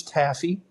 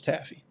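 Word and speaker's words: Taaffe: And I think it's I think it's Taffy. It's T A FF E. So, it's kind of an odd spelling, but I'm fairly certain it's taffy.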